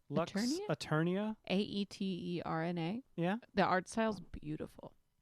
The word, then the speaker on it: Aeterna: Oh, I don't know how to pronounce this word. Eternia? Lux Eternia? Aeterna.